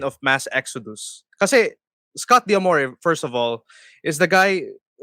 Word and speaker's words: D'Amore: First of all, it's pronounced Damore. It rhymes with adore.